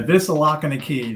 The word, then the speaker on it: Vislocky: Is that how you pronounce it? Vislocky? It's easy. Yeah, Vislocky.